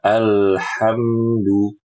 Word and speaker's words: الحمد: Ibu perhatikan ketika membaca alhamdu, a dibuka, a, lalu ketika al ujung lidah naikkan. Al, al, ini rahang, ya, jangan ditutup. Jangan al, tidak. Alhamdu, alhamdu.